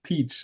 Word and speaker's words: Pietsch: We're extremely interested in the usage of artificial intelligence, and he's going to be Pietsch. Am I pronouncing it right correctly? No, it's peach, like the fruit, actually.